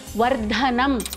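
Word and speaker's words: वर्धनम्: Mahaprana is where you have to put in a little extra breath while pronouncing. For example, first word is Sugandhim, Dhi Mahaprana. Second, Vardhanam, Dha Mahaprana.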